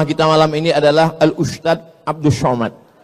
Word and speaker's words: ustadz: Enggak salah secara bahasa Indonesia, tapi secara bahasa Arab. Bahasa Arab itu ada huruf za, ada huruf ja, ada huruf d, ada huruf dza. Dza. Letakkan ujung lidah di atas gigi. Atas gigi atas.